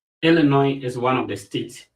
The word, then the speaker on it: Illinois: So, you don't add the S to it, so it's Illinois.